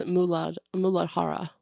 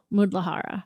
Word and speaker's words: Muladhara: It's Muladhara. Muladhara.